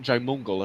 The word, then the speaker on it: Jaimungal: And recently, actually, it was probably about 2 months ago, I on Theories of Everything with Kurt Jaimungal, if I'm pronouncing that right.